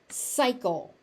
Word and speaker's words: cycle: Cycle, cycle. This is another one of those special words that has 2 C's in it that are pronounced differently. You cannot trust spelling in American English.